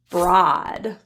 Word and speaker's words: broad: cause sauce hul hunt one exception word is spelled with an o a and the word is Broad so just be aware